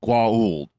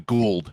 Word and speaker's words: Goa'uld: At least with SG-1, and they're the Goa'uld. Yes. Of course, then Don S. Davis couldn't pronounce it, so they came the Gould as far as he pronounced it.